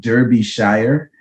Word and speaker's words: Derbyshire: uh out in in you know the english it's spelt derby shire but it's pronounced derbyshire okay and so yeah